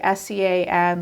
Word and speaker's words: Sean: Like it's Sean, but like Sean, like most of us know that's Sean, but not everyone does.